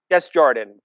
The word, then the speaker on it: Desjardins: Desjardins, Judy Greer.